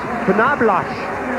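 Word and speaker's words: Knoblauch: found out today that noblock in German is pronounced pblos and it and it stands for garlic can you imagine Larry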